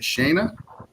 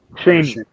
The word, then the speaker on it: Shane: Is it Shayna? Shane. Shane.